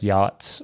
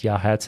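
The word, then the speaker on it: Yachats: It looks like yachts with a a before the T, but it's Yahhats is what they how they say it.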